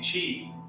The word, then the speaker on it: Qi: their tributaries off a river and the name Chi uh spelled Qi so sometimes there's questions on how to pronounce it Chi is the life force that would be the